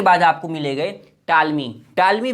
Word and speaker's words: Ptolemy: के यहाँ लिखा है टालमी का, चौथा है जो कि आते हैं जोग्राफर। तो रोमन में यहाँ चौथे जोग्राफर जो है टालमी, या इंग्लिश में आप कहेंगे PTOLEMY, ठीक है, पी साइलेंट है।